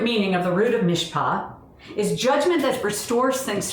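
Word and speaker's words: mishpat: order justice and judgment his mishpa is pronounced his mispa is all over the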